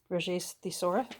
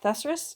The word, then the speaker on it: thesaurus: from a book um thesaurus thessarus or thesaurus however you prefer to pronounce it i know the